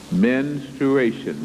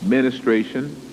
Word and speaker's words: menstruation: is based on menstruation menstruation many times it is pronounced anounced ministration that is not correct but one thing